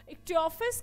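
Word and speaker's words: Ichthyophis: Option है सी, जिसे आप ये च प्रोनाउंस ना करके क प्रोनाउंस करते हो, इक्टियोफिस के पास जो है जीभ नहीं होती है, जीभ नहीं होती है, ठीक है डियर।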